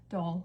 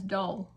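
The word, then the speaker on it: Doyle: It is unless you're from our county then yes you can say do but you spell it doy. D o y l e. Literally everyone that lives here says dole.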